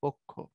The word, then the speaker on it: পক্ষ: আমরা কিছুক্ষণ আগেই পড়ে আসছি, উচ্চারণ হবে পক্ষ। কারণ এই প যেটা আছে তার সাথে একটা লুকায়িত অবস্থায় সাইলেন্ট ও আছে, এটা ও এর মতো হয়ে যাবে।